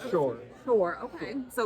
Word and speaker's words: Schorr: No, I've mispronounced that name. Sorry. You're close. It's Schorr.